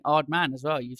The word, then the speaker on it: Aardman: you very much for having me at the art man offices here in Bristol - you are very welcome and massive props for saying odd man as well you've said it right well I